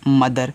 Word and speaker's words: mother: तो देखिए, यम से आपका होता है माँ, यहाँ पे ओ साइलेंट रहेगा, और TH मैंने बताया जब भी इंग्लिश में TH दे उसको आपको दा पढ़ना है, तो दा हो गया, ई साइलेंट रहेगा, और रा आपका, आर से आपका रा, ये हो गया मदर।